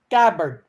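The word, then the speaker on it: Gabbard: we go Chelsea um gabard yeah tulsey gabard gabard we call him gabar but it's okay if you call gabber I don't know how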